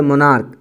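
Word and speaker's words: monarch: जैसे मोनार्क, मोनार्क का क्या होगा? मोनार्क्स। स्टोमैक, स्टोमैक्स। सी एच का उच्चारण यहाँ पे क्या है? क का है।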